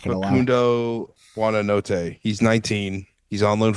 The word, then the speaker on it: Buonanotte: meanwhile, though, I'm never gonna say it right, and I remember literally yesterday hearing the Leicester City commentary, but I call him Buonanet, and it's like Buonanotte.